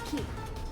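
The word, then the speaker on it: 木: The kanji for tree can be pronounced as key. That's just one way to pronounce it.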